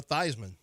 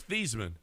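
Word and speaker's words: Theismann: He What about Joe Thyman? He was Theman. And he tried to He just changed it for marketing purposes. Rhyme with Heisman.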